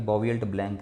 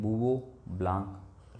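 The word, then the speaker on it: Bouveault-Blanc: इसको ऐसे लगता है कि बॉवियल्ट ब्लैंक रिडक्शन होगा, लेकिन इसका जो वास्तव में इसका प्रोनाउंसिएशन होता है, इसको बोला किस प्रकार जाता है, इसको बोलते हैं बूवो ब्लैंक रिडक्शन। हिंदी में और इंग्लिश दोनों में इसको ऐसे प्रकार से बोलते हैं। ये आपको पढ़ने में अलग लग रहा होगा, लेकिन इसको ऐसे प्रोनाउंस किया जाता है बूवो, और इसको बोलते हैं ब्लैंक, बूवो ब्लैंक अपचयन।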